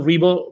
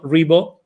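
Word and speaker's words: Ribo: look for Angel Rebo my last name is is spelled r i b o for those that are going to listen to this instead of watching it g Angel a NG g l Rebo R IBO and the CEO Confidant is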